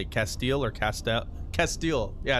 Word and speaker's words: Castile: Castile. Yeah, I think it's Castile. Castile, like it's like steel but with cat at the top, at the beginning. Anyway, incendiary round. INCH. Castile.